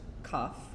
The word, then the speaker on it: CAF: see what it is CAF pronounced cough cough is a wrapper for